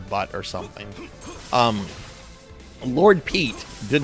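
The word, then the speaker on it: Petre: Uh it's it's not pet te. It's uh it's spelled a different way but it's pronounced Pete.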